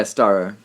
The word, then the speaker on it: Starro: Yeah, Starro.